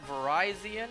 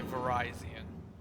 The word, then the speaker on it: Virizion: See, the way I pronounce it is, you know, the official way. Or what should be the official way. The way that the anime pronounces it. The anime said Verizion, so I say Verizion.